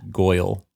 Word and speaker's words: Goyle: Crab and Ghoul. Crab and Ghoul at it again. Yeah, so then Just to let you know, it's pronounced Goyle. Goyle. Like she was the prettiest Goyle in the whole world.